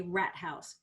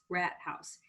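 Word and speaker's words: Rathaus: um it's a very pretty it's called a rat house let me spell that r-a-t-h-a-u-s rat house which is a town hall which i find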